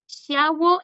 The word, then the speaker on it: 샤워: 샤워 es como en inglés shower. Ah, Es ok, un Konglish. Ajá, es un Konglish. sí. Ah, ok, che, Ujú. bueno, es que es una O, O al final, 샤워.